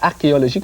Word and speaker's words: archéologique: prononcer sur h mais on le prononce archéologique comme si c'était un cas d'ailleurs le cas c'est